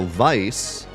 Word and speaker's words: Weiss: So Vice, in Japanese, is written as Weiss, which is still pronounced Vice, but W-E-I-S-S, leading to